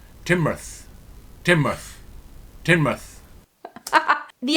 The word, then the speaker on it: Teignmouth: Now, my heart says Tegmouth. Tegmouth is my guess. Teignmouth.